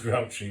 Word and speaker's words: Grouchy: pronounced Grouchy.